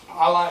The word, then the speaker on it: Allah: Allah is actually two words, two syllables. Al just means the. That's the word for Allah. La is God.